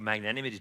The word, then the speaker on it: magnanimity: the United States a year ago speaking of magnanimity two hours and someone came to me hey